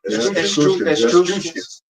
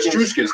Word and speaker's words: Etruscans: from, you know, Japheth, the Etruscans. That's how you say it? Etruscans. Yeah, the Etruscans.